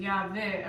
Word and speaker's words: Yahweh: with the hexagram and Yahweh around because we were not allowed to say his name. So they were giving out the alphabet and it was pronounced Yahweh, which again became Jehovah and so forth and so forth.